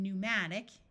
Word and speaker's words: pneumatic: type of flying dinosaur words starting with PN also have a silent P like in pneumatic E uses U and